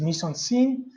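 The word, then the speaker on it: mise-en-scène: to start now the first one day is miss on scene listen to my pronunciation of edits it's a bicycle originals French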